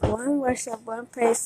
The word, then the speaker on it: Wun Worship Wun Praise: One worship, one praise is pronounced. One worship, one praise to symbolize that we all must be in one spirit to come together in one praise to our God.